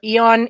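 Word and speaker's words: Aeon: I thought Eon was spelt with E-O-N, not A-E.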